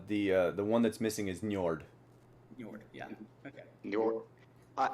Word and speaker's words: Njord: one that's missing is njord yeah okay uh how can you pronounce that new york you see you just did it no problem because it sounds like north but new york you